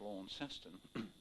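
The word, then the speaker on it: Launceston: to the north landing at launston pronounced by the australians as lorn seston and stayed with the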